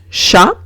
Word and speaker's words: chat: Un ejemplo es chat. Chat significa gato, veo una CH, la pronuncio como una SH, o sea, sh.